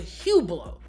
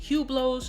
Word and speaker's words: Hublot: the channel i hate hublots and youtuber nico is going ape right now it's the right way to pronounce the brand name with no h and no t right no hublot is pronounced